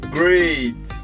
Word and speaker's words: grade: cortando o terreno, deixando o mesmo nivelado no grade. Legal, legal. Eu vou começar falando sobre essa palavra grade, tá, pessoal?